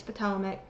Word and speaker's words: Patawomeck: I'm mixed indigenous of Patawomeck, Mexican, and Welsh descent, And mind you guys, she cannot say Patawomeck right, it's Patawomeck. That's itself evident she's not